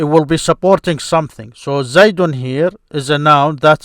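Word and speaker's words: زيدٌ: So you start with it like this, Zaydun. Here is Zayd, a proper noun that accepts the nonation.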